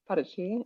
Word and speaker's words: Paraty: and it's called Paraty, or in English it'd be pronounced like Paraty. Mhm. Not to be. It kind of looks like party, but like it's Yeah. yeah, Paraty. Parachi, and that city is also